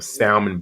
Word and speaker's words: salmon: up one of them salmon biscuits downstairs and go child the the L in the salmon is Silent not with me I say